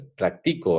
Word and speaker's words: practico: Es practico, ¿verdad? Practico, porque no tiene Practico, sí, como no tiene acento y termina con vocal, entonces es una palabra grave, ¿sí?